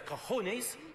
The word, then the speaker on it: cojones: in Spanish translates as cojones rhymes with Rolex now I know mr.